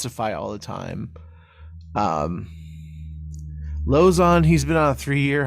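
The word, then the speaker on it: Lauzon: Lozon. That's how you say it. Joe Lozon.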